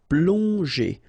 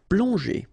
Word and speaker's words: plonger: Okay, remember that here you've got these two letters, so pl together, on, plong, and then g and e, normally that's the sound j. Okay, so here you get, obviously, as usual, the ending er, so you pronounce it e, so plonger, plonger.